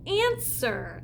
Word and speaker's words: answer: This one is the word answer. And answer has one of those silent letters in there, so let's figure it out.